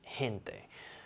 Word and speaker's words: gente: the english g and there's a time where you pronounce it more like a ha like an h sound like in the word gato you say it like a g like in english but in the word gente which means people it sounds like an h it's gente there i'll tell you the